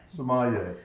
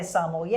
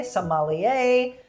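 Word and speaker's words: sommelier: Somalier. Okay. There's so many people that'll come on and they'll say samo. Somalier.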